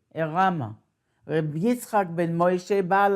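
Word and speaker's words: Arama: It is spelled like Yiddish, but it's not, he is not Yiddish, he's Spanish. Ayin Reish Aleph Mem Hey, Erama.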